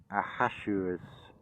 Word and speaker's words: Ahasuerus: curse, the redemption of Ahasuerus going under. I'm pronouncing that Ahasuerus. It's Ahasuerus.